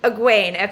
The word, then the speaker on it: Egwene: Egwene. Okay, got it. Egwene. And let's see, is it Perrin and Egwene that are sort of thinks it's all being made up and are the more skeptical ones?